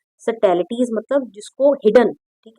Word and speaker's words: subtleties: Okay, in addition to 5 books of poetry, she is a sensitive writer who captures the complex subtleties, इसमें B silent रहेगा। ठीक है, सटैलिटीज of human relationship in lyrical idiom my mother eight 66।